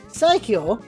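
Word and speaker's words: 最強: Strongest is pronounced Saikyo, and best is pronounced Saiko. So just that little Y there is the only difference, and Kirby didn't hear the Y, I guess.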